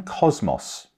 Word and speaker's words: Kosmos: hear all about Cosmo I'm Cosmos but with a silent s I'm pronounced Cosmo a two-year-old male Siberian